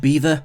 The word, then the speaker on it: Belvoir: Pronounced beaver, meaning beautiful view in French, this castle appears to have been plucked straight from a fairy tale.